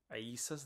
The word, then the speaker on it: Isa: The Islamic world is the only people in the world to actually pronounce Isa's name correctly because his name is Arabic.